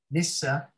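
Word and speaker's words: nisse: them so yeah like your norwegian nissa they yeah am i saying it right oh yeah you're saying it really well oh good uh yeah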